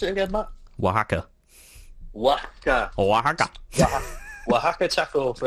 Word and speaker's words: Oaxaca: How do you pronounce it again, Matt? Oaxaca.